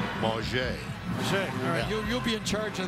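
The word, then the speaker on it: Mauger: to see Quincy Bunker he asked this year that you pronounce it the French Way ma che you'll be in charge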